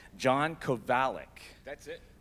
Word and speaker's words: Kovalic: You can read a name as often as you want, but it's always your own internal pronunciation of it. So I had it wrong. John Kovalic.